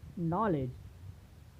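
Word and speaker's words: knowledge: जैसे हम देखते हैं नॉलेज में जी के पहले डी आया है तो यहाँ पर डी का उच्चारण नहीं होता है। क्या पढ़ते हैं उसे हम? नॉलेज।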